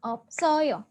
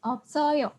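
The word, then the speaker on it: 없어요: sudah satu kata yang Bacanya adalah opsoyo Oh hooh yo oke dibaca opsoyo artinya Apa artinya adalah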